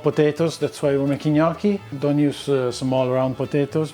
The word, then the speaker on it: gnocchi: Today we're gonna make gnocchi. Repeat after me. Gnocchi. Gnocchi. Brava. Gnocchi. It's not pronounced gnocchi, gnocchi, gnocchi.